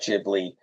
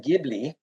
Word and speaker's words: Ghibli: En español está Ghibli, pero en inglés is Ghibli, and in Japanese it's Ghibli.